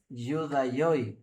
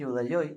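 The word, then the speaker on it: Ἰουδαῖοι: Pero lo que usa ahí, el término es Judaioi, si no me equivoco, se pronuncia así.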